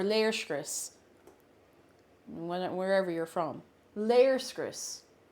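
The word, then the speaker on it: léirscrios: Chris wherever you're from layers Chris it's a long e sound layer script no not layer of Chris layers Chris I actually do know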